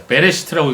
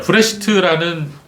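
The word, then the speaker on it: בראשית: 브레시트. 예, 브레시트예요. 베레시트라고 얘기도 있지만 좀 정확한 발음은 브레시트입니다. 자, 브레시트라는 히브리어의 뜻은 태초에라는 뜻이에요.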